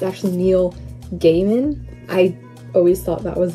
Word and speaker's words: Gaiman: realized today that i've been pronouncing his last name wrong it's actually neil gaiman i always thought that was an l so